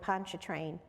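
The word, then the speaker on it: Pontchartrain: Maybe here on Lake Erie was helping my big family down on Lake Poncha Train to recover.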